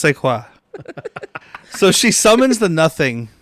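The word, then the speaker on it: Szwarc: the cesan of theaa that's how you pronounce his last name seaqua his name is Janos sequa so she summons the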